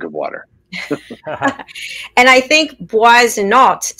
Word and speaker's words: Boissonneault: The Americanized version is Boissonneault, and the French version is a little softer, Boissonneault. And it is drink of water. The EAU is water.